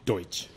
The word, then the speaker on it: Deutsch: My guest today is Deutsch. How'd I do? So close. So close. So say it close. Right. Say it right for me. Deutsch.